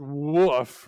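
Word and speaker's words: WOF: called warmed-over flavor but they pronounce it woof right like the wet dog here well who can guess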